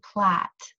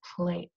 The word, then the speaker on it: plate: Remember, if it has a consonant, vowel, consonant, silent E, that silent E makes the vowel say its name. So it's a long vowel sound, not short. This word would not be plat, it's plate.